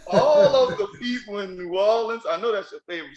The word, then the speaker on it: New Orleans: people always say they say new orleans likes it's spelled n-e-w w-a-l-l l-i-n-s new orleans what is it i